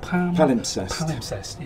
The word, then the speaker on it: Palimpsest: So your current album, how do you pronounce it? Palimpsest.